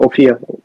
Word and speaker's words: Ophir: What's the website for Ophir? Well, it's spelled O P H I R.